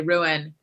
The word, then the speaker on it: ruin: My whole life, I just pronounced it one syllable, rune.